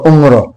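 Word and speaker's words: عمر: तो हम कहते हैं कि भाई तुम्हारी उम्र कितनी है, तुम्हारी उम्र कितनी है, और यहाँ पर उम्र और यहाँ पर उम्र।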